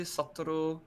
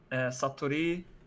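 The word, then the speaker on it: 사투리: But you can either call it the kyonggi satoru. No, sorry. Why did I say it like that? Saturi or Seoul saturi Hmm.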